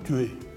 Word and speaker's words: tuyé: pas ailleurs cette vaste pyramide qu'on appelle des tués là une expression locale qu est assez symptomatique on dit souvent tu es ça s'écrit t u et sous tués est ce